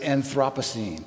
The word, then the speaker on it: Anthropocene: longer in the Holocene, we are now in the Anthropocene, or as some people pronounce it, Anthropocene.